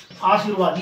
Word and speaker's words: आशीर्वाद: उसी प्रकार आशीर्वाद है, देखिए मैंने लिखा आशीर्वाद, ये शुद्ध हुआ। आ-सी-रे-वा-द, ये सही उच्चारण ये होगा, ये शुद्ध होगा हमेशा।